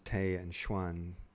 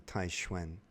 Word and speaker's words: Taixuan: like that's interesting um like those two characters Tay and Schwan like that's how an English-speaking person would pronounce two Chinese characters but they're mispronounced like if you were pronouncing them in Chinese it would be taiwen not tan be taiwen and uh this definitely